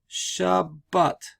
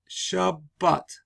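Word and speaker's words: שבת: So it's not Shabbat, it's Shabbat. Meaning that this Dagesh Chazak doubles the sound so that at the end of this syllable, shab, I have a soft B sound. And at the beginning of this syllable, I have a B sound, but.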